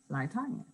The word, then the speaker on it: Lie Tanya: It's Lie Tanya. Okay, it's just how you pronounce it. No emphasis on the lie part.